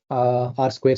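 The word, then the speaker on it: R²: And most importantly, the metrics we are taking mean squared error, R square score, right? So though we write it as R2, you have to pronounce this as R square.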